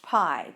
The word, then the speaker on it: pi: It's a Greek letter, and it's pronounced pi, P-I.